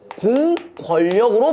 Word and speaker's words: 공권력: 이럴 때는 어떻게 발음해야 된다? 공권력으로 발음하시면 된다.